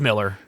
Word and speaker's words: Millar: When I read that they paid 8 figures for the whole Millerverse or Millarverse, however you want to pronounce it, I'm just like, it's Miller.